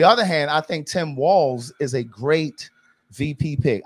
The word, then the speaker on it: Walz: done, his name is Walz, okay? It is not Waltz. Like Walz, like in here. Right, right. And in here. It's pronounced like Walls. It's Walz, okay?